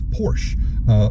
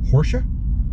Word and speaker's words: Porsche: Some people say it's Porsche, like borscht. Other people say it's Porsche, like Porsche? Morsha? Worsha? Like what? Dorsha? Okay. They're both wrong, actually. Are you ready to hear how it's pronounced?